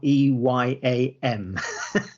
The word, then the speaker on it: Eyam: People are often not sure how to pronounce it, and often want to make it 2 syllables, but it's actually 1 syllable. Yeah. That's just Eyam to rhyme with team. So Team and Eyam, that's it.